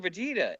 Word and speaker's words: Vegeta: Just like it sounds.